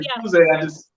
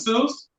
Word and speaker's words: Suze: I would say Suze, but it's Suze. So we should talk about this for a second because you guys, I just found out that Suze was discontinued in Total Wine.